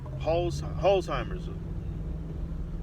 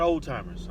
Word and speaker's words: Alzheimer's: I think you pronounce it that way. Alzheimer's. It's not old timers. I used to think it was old timers.